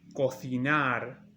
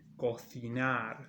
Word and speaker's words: cocinar: This means to cook, and it's cocinar in Spain. Cocinar, like th, cocinar.